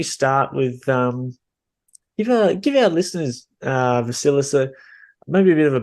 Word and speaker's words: Vasilis: yeah, you pronounced perfectly. Vasilis, as you said.